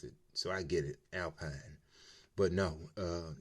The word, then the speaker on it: Alpine: so I get it Alpine but no uh it's actually Alpine because you know it's a French brand probably uh you're bouncing